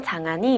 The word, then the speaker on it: 장한이: 다모 장한이 입니다 반갑습니다 제가 분명히 장 1 이에요 근데 이제 하니가 발음하기가 좀 어렵기도 하고 장 아닙니다 하면 대부분이 제품들이 그냥 1이라고 달려라 하니 할 때 한 이라고 알고 계시는 분이 까 그렇게 생각하시는 분들이 많으신 거 에요 어 그래서 그냥